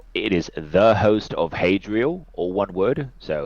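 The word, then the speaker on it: Hadriel: Army oh yeah it is the host of hadrial or one word so hadrial is spelled h a d r i e l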